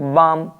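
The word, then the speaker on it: balm: मेरे दादा का फैसला इन एम डी के एफ चार वर्ड्स से पहले कभी भी आपको एल लिखा हुआ मिल जाए तो ये साइलेंट रहता है जैसे एम से पहले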